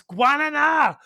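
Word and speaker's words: guaraná: like super highly caffeinated, but no one says it right. They all say like, "What's the guerran?" And I'm like, "It's guana. Say it right or don't say it at all.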